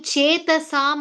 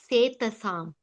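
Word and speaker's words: चेतसाम्: The last line, Chetasam or Setasam?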